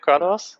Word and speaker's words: Kratos: And I swear to God, I swear to Kratos. That's how you pronounce his name, isn't it? Kratos?